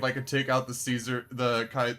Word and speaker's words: Caesar: Actually, it would be really funny if I could take out the Caesar the Kai. I'm not I refuse to pronounce in Kaisar, by the way. I am not going to do that.